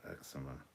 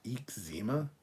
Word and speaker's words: eczema: say eek zema not eczema well it's eczema though that's correct eczema sounds like there's a drink called Zima and it's like a